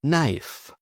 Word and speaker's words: knife: Now, the silent k before an n. For example, know, knife, knee or knock.